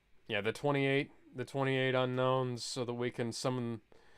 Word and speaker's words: Unown: thought they were called unowns no it's pronounced unknown also the unknown as